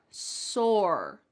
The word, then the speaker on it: sore: And that second word, sore. Sore. It's just one syllable.